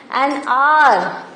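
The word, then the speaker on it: hour: An R. See, though it is starting with H, but pronunciation and R. H-O-U-R. And R.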